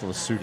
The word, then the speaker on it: Lesotho: So I didn't even know it was spelled and pronounced Lesotho.